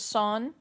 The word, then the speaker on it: Son: You did pronounce my name super close, by the way. So it's Son.